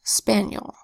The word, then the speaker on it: spaniel: And then we have our I that says Y, because it's in an unstressed syllable, yul, where the E makes a schwa vowel sound.